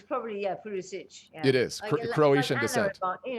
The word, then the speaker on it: Pulisic: soccer player in the entire world, okay, is Christian Pulisic. And that's how he pronounces his name, because he's American. Well, it's probably, Pulisic.